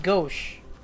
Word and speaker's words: gauche: goat it's the uncles is it gache or gouch let's check Google gauche gauche hold on gauche gauche it is gauche gauche okay so you it's pronounced as gauche gauche how to pronounce